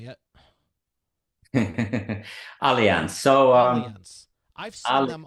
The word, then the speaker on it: Allianz: yeah right yeah how do you say it Allianz so um I've seen them all over I